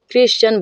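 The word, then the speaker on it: Christian: Pronunciation, उच्चारण क्या होता है? क होता है। जैसे एग्जांपल देखिए, क्रिश्चियन बोलते हैं, क्रिश्चियन। देखेंगे सी के जस्ट बाद क्या आया है? HR आया है, HR आया है।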